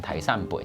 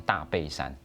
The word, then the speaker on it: 大山背: 客家人會講台山北，講得很自然。對，但是不是客家人的會不小心就念成大背山。